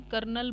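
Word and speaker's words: colonel: ने लिखा हुआ है इसको हम जनरल लैंग्वेज में कर्नल बोलते हैं कर्नल की स्पेलिंग होती है वह देखने में कुछ और लगती है उसमें अरे यार कहीं आता ही नहीं लेकिन फिर भी उसको कर्नल हम बोलते हैं तो इस पेड़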